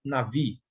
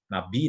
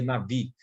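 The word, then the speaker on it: נביא: Então, o termo profeta é melhor definido pela palavra hebraica navi, tá? Ou nabi, né, como está aqui, mas a pronúncia seria navi, que ocorre cerca de 315 vezes na Bíblia hebraica.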